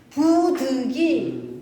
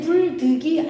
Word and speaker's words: 부득: 자, 부득해야지 불득이 아니에요.